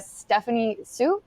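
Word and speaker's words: Stephanie Hsu: I really like a Stephanie Sue that's how you pronounce her name I really love Stephanie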